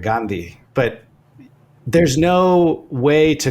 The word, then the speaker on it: Gandhi: My brother, he's a professor at UCLA, and he still pronounces his last name Gandhi, right? Which is the westernized pronunciation. It's Gandhi. So the D is duh in this language. But the Indian pronunciation is Gandhi, right? And it's like aspirate, Gandhi.